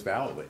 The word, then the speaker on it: Vallely: I know who the next person is, though, and this is Rick Vallely, and but it's Vallely.